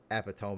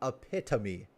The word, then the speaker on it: epitome: And are you telling me this is like the This is the I I almost said uh Eptome again. People got really pissed at me for pronouncing it that way. The epitome.